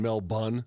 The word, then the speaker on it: Melbourne: from Melbourne all right you mean Mel bun yeah they they just dropped like eight letters to pronounce that that way all right let's see